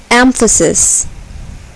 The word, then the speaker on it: emphasis: syllable is accented vegetable emphasis emphasis here the first syllable is accented emphasis control control here